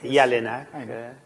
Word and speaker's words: Jelinek: necessarily know was Fred Jelinek, or Jelinek, in the correct, or more or less correct Czech pronunciation, since he was from Prague.